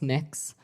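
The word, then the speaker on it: Mx.: Cameron tell me what you're you're proposing it's pronounced mix um mix is that how you how would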